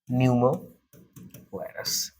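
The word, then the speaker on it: pneumovirus: it year human देखिए यहां पर प पढ़ते क्रम में प साइलेंट हो जाता है और यह ना सोचिए कि पी को पढ़ना नहीं बहुत सारे वर्ड होते हैं इंग्लिश का जो कुछ ना कुछ वर्ड साइलेंट हो जाता है जब इसको पढ़ेंगे तो अभी प साइलेंट करके पढ़ेंगे ओके हा सो लेट्स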